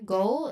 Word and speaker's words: go: So the pronunciation here, go, there is a diphthong sound there. O, that's a diphthong sound. Go, go, like toe, go.